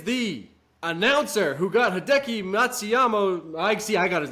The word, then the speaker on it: Matsuyama: Okay, first Todd of the week is the announcer who got Hideki Matsuyama. I got his name wrong, so that's why it's not a Todd.